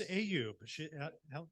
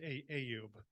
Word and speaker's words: Ayub: It's Ayub. You got it perfect. It's like hey you, except Ayub.